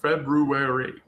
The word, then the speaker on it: February: February, February, I pronounced that R. But almost no educ. They say February. I just put that in an article that I think I published today. I pronounce both Rs in February. Every time I say February February. February is the is the pronunciation.